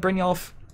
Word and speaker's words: Brynjolf: But yeah, I think Brynjolf, now that we know how to pronounce it, that's a big part of the card.